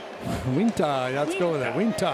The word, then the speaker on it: Uintah: U I N T A H. I have no idea how to pronounce it. Uintah?